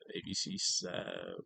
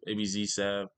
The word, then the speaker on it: Abzsav: I know you guys like my backstory of I think it was ABC Sav, ABZ Sav, abzsav. My fault. Said his name wrong.